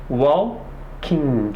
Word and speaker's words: walking: She is walking. She's walking. Tu não precisa pronunciar esse G. É como se esse G não existisse. Ele existe apenas na escrita, tá?